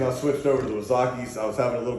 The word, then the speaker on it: Wazaki: If you don't know how that's spelled, it's Wazaki, W-A-Z-A-K-I.